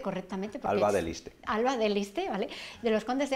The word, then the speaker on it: Alba de Liste: Alba de Liste, ¿vale?